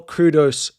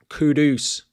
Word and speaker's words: Kudus: Would I sell Kudus Kudus? Sorry. That has been the big pronunciation recently that I think I've been getting wrong. Kudus.